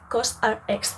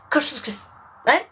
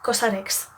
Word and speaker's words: COSRX: que no sabe pronunciarlo es Cos RX vale No Cos vale Admito Admito que yo antes era una de las que decía Cos V pues no es cosar ex vamos digo yo por